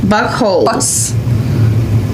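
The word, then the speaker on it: Buchholz: elijah bach holes yeah buckhole not butthole that's right because it sounds like we're saying buttholes but i'm not i'm trying to pronounce it b-u-c-h-h-o-l-z buck holes is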